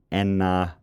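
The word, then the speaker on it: Aisne: to north of the Enna River. I had to look up how to pronounce that because it's written Asni.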